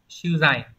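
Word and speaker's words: 取材: Hán tự là chữ thủ và chữ tài, đúng không? Đọc là sư dày.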